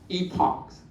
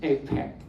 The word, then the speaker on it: epoch: The other selection is the epochs, okay? Wow, that's, you might hear different pronunciation. One is called APEC, okay? Depends on it's British English or American English.